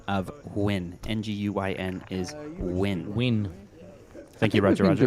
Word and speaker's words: Nguyen: I just want to call out just the correct pronunciation of win. N-G-U-Y-N is win.